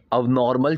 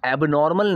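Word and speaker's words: abnormal: एबनॉर्मल नहीं, उसकी जो प्रोनाउंसिएशन है वो एबनॉर्मल नहीं है, वो अबनॉर्मल है, ठीक है।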